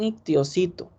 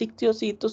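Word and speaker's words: histiocito: A mí no me gusta usar el término piocito, sino más bien ictiocito. El ictiocito es una célula, es un macrófago, se escribe con H al inicio.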